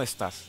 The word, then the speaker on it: estás: Yeah, ¿Cómo estás? Estás is like all together, like estás.